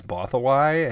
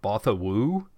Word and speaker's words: Bothawui: is on Bothawai also, and it's that the pronunciation is Bothawai, and I had always, because I knew how it was spelled, it's Bothawui, so I always thought it was like Bothawoo.